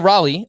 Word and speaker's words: Raleigh: of north carolina though that is correct cal raleigh of the seattle mariners scott so who do